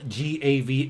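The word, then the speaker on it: Gävle: up look up um the yav goat but it's spelled g a v l e so some folks say this the gav goat or gookin but look it up it's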